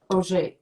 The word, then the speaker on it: Oger: none other than derek oj we pronounce it the french way right yeah we do